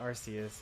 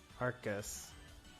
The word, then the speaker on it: Arceus: they'll probably add more it's not Arceus it's arcus that's surprising to me